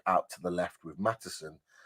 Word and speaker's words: Maatsen: Mudryk out to the left with Maatsen, or Maatsen, I believe it is, as you pronounce it, on the left-hand side.